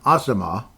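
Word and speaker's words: Asamoah: the play that's how they described it Brian Asma apparently is the way he's pronounced uh the way he pronounced his name so Brian asimar and if I'm saying it wrong again Brian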